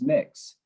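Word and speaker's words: Mx: i address them as mix it's pronounced as mix mix for those not familiar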